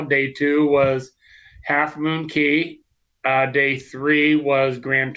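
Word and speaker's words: Cay: Well, they they go with key because they don't say it's perfect day at Half Moon K. So they call it key just like they call it celebration key. You can pronounce it any way you want, but it is a beautiful place.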